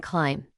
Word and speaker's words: climb: Take the letter B at the end of words like thumb, lamb, and climb. It's always silent when it comes after M.